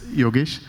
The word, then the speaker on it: Yogesh: Yogesh, you are Yogesh. Yes, Yogesh.